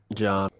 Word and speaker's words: Jean: So only Jean and, or is it Jean or Jean? Like, what's your pronunciation? John. John and only Jean and